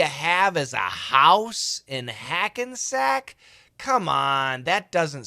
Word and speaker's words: Hackensack: So he says, a heart attack. Who needs a house out in Hackensack? So that heart attack, ack, and that Hackensack, those are short A's.